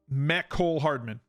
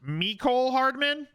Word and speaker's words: Mecole Hardman: way more routes than Cole Hardman. Excuse me, streamer. Excuse me. His name is pronounced Mecole Hardman.